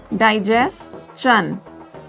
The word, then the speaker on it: digestion: Digestion and not shun.